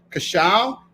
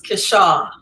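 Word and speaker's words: Keisha: going to bring up cacao i pronounce it right or did i get it wrong it's so close kesha oh my god uh so okay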